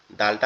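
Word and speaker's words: د: এই দালটা উচ্চারণ হবে কেমনে, দালটা আমাদের জিহ্বার আগা উপরের দুই দাঁতের গোড়ার সঙ্গে, উপরের দুই দাঁতের গোড়ার সঙ্গে লাগবে, লেগে উচ্চারিত হবে দাল দাল দাল।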